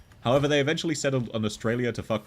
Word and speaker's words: Australia: they eventually settled on Australia to with foreigners because it has three A's and every a is pronounced differently austral three letter A's